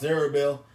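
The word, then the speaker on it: Zerubbabel: Hava you got uh uh Zer which is pronounced zerbel you got uh all these names and stuff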